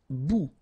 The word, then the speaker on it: bout: Un bout. Remember, final T not pronounced.